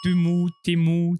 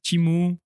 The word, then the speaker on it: Temu: Temu, Timu, prononcez-le comme vous voulez. La c'est plateforme. Timu parce que c'est pour Team-Up. Oui, mais tout le monde, et tu sais très bien que... il y a des vidéos qui t'expliquent comment prononcer Timu. Non, mais voilà, c'est ça, pour ça que j'en rigole.